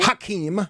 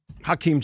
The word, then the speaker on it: Hakeem: Hakeem. There you go. What did I say? Hakeem. You added a syllable.